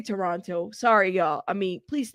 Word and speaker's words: Toronto: I keep saying Toronto, but it's Toronto. How do y'all say it? Where are my beautiful Canadians? Is it Toronto or Toronto? Toronto. I say Toronto.